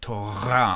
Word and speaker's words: Torah: It's not Torah. It's not Torah. It's Torah, almost like toga, like a garbled G, Torah.